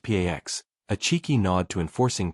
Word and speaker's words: P4X: He adopts the pseudonym P4X, pronounced Pax, a cheeky nod to enforcing peace through punishment.